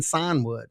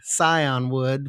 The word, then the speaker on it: scion: My Appalachian I have to spell that out because it sounds like I'm saying sign wood, s i g Sign wood. It's scion wood, which means child, but